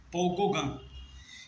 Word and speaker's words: Gauguin: Primeiro foi Camille Pissarro e Paul Gauguin. Então o que acontece? Esse Gauguin, né, que se escreve G-A-U-G-U-I-N, talvez eu não esteja pronunciando direito porque eu não sei francês.